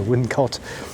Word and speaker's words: Wilmcote: in the village of wilmcot that's with an N but it's spelled with an M very confusing I know wouldn't caught it looks like it's